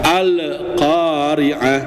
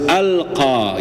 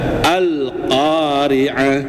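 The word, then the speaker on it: القارعة: Alla ketika izhar qamariah kita tidak boleh membacanya dengan pantulan atau diqalqahkan. Alqariah ini enggak boleh, Pak, ya. Harus alqa gitu ya. alqa tanpa ada tanpa ada pantulan ya. Alqariah.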